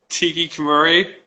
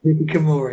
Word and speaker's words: Hikikomori: I really can't pronounce it well. Hikikomori. Tiki Kamuri. Hikikomori.